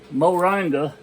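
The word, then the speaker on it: moringa: weather and the name of it is uh moranga and I'm going to spell it for you it's m o r i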